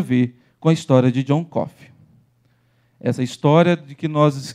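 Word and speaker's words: Coffey: conta a história de john coffee que apesar de falar como café não se escreve igual a conta a história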